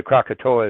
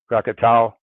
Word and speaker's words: Krakatoa: And by the way, Krakatoa is how you say it in English. Krakatau is it more like when the Indonesians would say it, or the Asians. And Krakata is how it's said in Sanskrit, and Krakaka in Dravida.